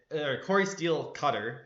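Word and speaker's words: Cori Steel-Cutter: I I I think mulligating a Corey steel cutter uh Cory steel cutter, that's how you pronounce that, not the other way.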